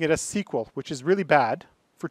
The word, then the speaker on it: SQL: by IBM at first originally was called sequel literally written like sequel it's true I stayed for a structured English query language thus as the SQL people tend to keep pronouncing it a sequel which is really bad